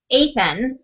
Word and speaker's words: Athan: to who they were as a character so athan is how i pronounced it I'm a with yes so athan